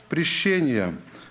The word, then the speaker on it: прещения: главу на этот стих написано ударение на второй слог прещения значит означает гнев угроза